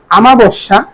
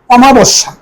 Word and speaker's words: অমাবস্যা: এরপরে আমাবস্যা এর আঞ্চলিকতা আমরা বলে থাকি আমাবস্যা আসলে এর সঠিক উচ্চারণ সঠিক মানে হল অমাবস্যা এরপরে দেখ উপযোগিতা উপযোগিতা